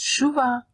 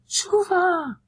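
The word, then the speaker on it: שובה: And it's pronounced Shuva. Shuva.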